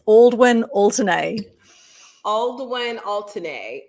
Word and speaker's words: Aldwyn Altuney: way you say it by the way it's aldwin alternae all the way and alternate okay and the